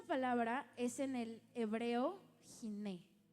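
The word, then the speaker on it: הִנֵּה: Y esta palabra es en el hebreo jiné. H i n e h. Jiné se pronuncia. Giné.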